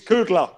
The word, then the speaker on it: Kudla: It's not kudos. It's Kudla.